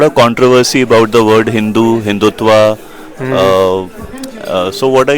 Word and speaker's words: Hindu: So it is named after the river Sindhu, right, which in Persian is pronounced Hindu. right, So without aspiration, not dhu but du, and s becoming ha. So ah, Hindu.